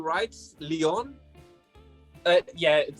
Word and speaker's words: Leon: right so okay and how do you say in german your name uh it's very similar it's just leon you just a little bit different lyon okay i'm gonna try